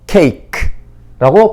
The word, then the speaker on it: cake: 뒤에 나오는 모음 E는 소리가 나지 않습니다. 그래서 cake라고 발음을 합니다.